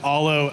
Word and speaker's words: Aalo: Matt loac I'm the co-founder and CEO of Alo atomics uh that's how you pronounce that name and uh not to be